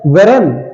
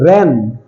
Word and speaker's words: wren: Okay, next is WREN, weren, it's not weren, it's ren, REN, ren, but we have to write W.